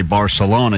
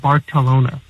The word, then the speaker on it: Barcelona: the trip away but usually when you say Barcelona you sound like a dumb Gringo and you get corrected at least in Spain and that's the Spanish pronunciation is they go very heavy on the balona like that I'm pretty white maybe